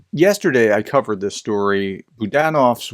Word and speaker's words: Budanov: I covered this story Budan of's wife I called him budanov before I realized how I was mispronouncing it was poisoned uh and